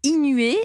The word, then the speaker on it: Eenuée: vous Éric Herberger vous êtes le cofondateur de inué mais inué ça c'est ça s'écrit e e n u e e oui